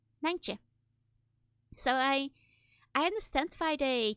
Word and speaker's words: Nijntje: Now, please read this and guess how you pronounce it. In Dutch, she's called Nijntje. Nijntje.